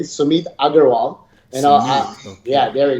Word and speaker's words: Sumeet Aggarwal: so let me first say my name correctly sumit agarwal you know yeah there you go you know